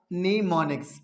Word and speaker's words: mnemonics: याद रखना है कि ये जो एम है, एम क्या है कि बच्चे आपने लिखने में एम लिखना है, लेकिन पढ़ने में इस एम को क्या है, आपने साइलेंट करना है। आपने आवाज किसकी देनी है, एन की। तो लफ्ज क्या हमारे पास बनेगा, नीमोनिक्स। क्या बेटा बनेगा, नीमोनिक्स।